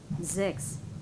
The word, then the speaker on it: sechs: But if it is in the beginning, Z, sechs, sieben.